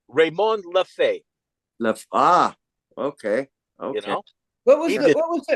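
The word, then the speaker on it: Raymond Lefèvre: there was one by Raymond LEF and he yeah no but the the correct pronunciation is raymon LEF ah okay okay what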